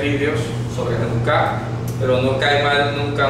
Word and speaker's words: Janukáh: La palabra Hanukkah, J-A-N-U-K-A-H, con tilde en la última A, no se dice Hanukkah, sino Hanukkah. ¿Ok?